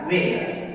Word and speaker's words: whether: WHETHER में W के बाद है H, तो H साइलेंट रहेगा वेदर।